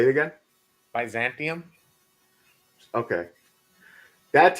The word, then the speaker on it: Byzantium: this movie I say advising say it again Byzantium okay that's how I was pronouncing it but I was like is there